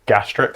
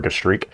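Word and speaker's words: gastrique: Um every British chef I know pronounce it gastric sauce which sounds like something you talk to your doctor about. Um, so I prefer gushri.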